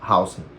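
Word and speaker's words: Huijsen: Hausen, é como se pronuncia, porque ele é um cara alto, mas ele não é um armário que nem Conatei Van Dije, por exemplo.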